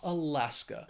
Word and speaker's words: Alaska: next state is Alaska it has three syllables the stresses on that second syllable that final syllable just has that schah Alaska it is a beautiful